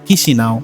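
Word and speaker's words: Chișinău: ইংরেজিতে স্পেলিং চিচিনাও হলেও স্থানীয় ভাষায় এর সঠিক উচ্চারণ হলো কিসি নাও।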